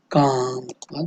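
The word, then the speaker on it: calm: काम में हम एल को जो है प्रोनाउंस नहीं करते, एल को साइलेंट रखते हैं, तो काम।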